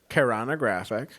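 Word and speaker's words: keraunographic: caran graphic kogog graphic so that's the word kog graphic that's how it's pronounced I wrote it down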